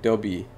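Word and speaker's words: Deobi: It's pronounced like Dobby. Dobby. Yeah, so pretty much the B, but like Dobby, kind of.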